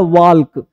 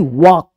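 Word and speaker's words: walk: ना अब बोलते हैं डब्ल्यू ए एल के हमने बहुत बच्चों को पढ़ते सुना है वाल्क वाल्क नहीं वाक क्या पढ़ते हैं वाक तो यहां पे ध्यान देना है कि एल जो है वो साइलेंट होता है ठीक है पाम काम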